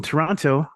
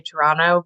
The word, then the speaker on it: Toronto: people say Toronto because they always pronounce that second te and sometimes when I have my work voice on I'll say here in the city of Toronto but it always feels so foreign to me we always Dro that it's just ton it's it's a weird way to pronounce it I don't know why